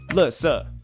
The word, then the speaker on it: 垃圾: Taiwanese Mandarin, 垃圾. Mainland Mandarin, 垃圾. This is interesting because they're all actually the exact same characters, but the Taiwanese Mandarin pronounces it 垃圾, which sounds closer to Cantonese.